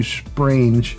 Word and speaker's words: Sprange: right and he said it's uh sprang as in it rhymes with strange so his name is matthew sprange which is it's a